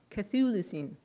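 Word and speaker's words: Chthulucene: Cthulhucine. The first part is silent.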